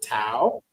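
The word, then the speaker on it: Tàu: It's you say it Thao, Tao. Okay, that's how you say it, Tao.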